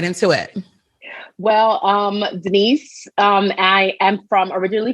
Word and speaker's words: Denese: we have the beautiful and the lovely miss denise there i want to say it the